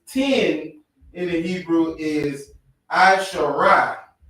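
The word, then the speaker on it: עשרה: How you pronounce 10 in the Hebrew is Aishara. Aishara.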